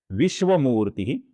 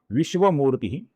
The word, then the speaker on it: विश्वमूर्ति: सर्वप्रथम नाम है विश्वमूर्ति, जिसमें विश्व में श है, श नहीं है, इधर हमें श का ही उच्चारण करना है।